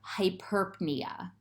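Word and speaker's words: hyperpnea: pronounce the p there but if p n appears in the middle of the word they are both pronounced so here we have hyperpnia the p and the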